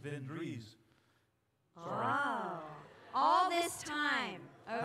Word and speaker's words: Svendrus: I think it's pronounced Svendrus.